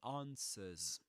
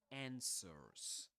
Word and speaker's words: answer: this is answer or answers. The vowel sound in the first syllable is different. In American English is answers, but in British English, answers with this long R sound.